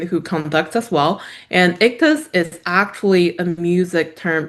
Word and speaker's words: Ictus: so it's called Ictus Audio, ICTUS. That's how we pronounce it.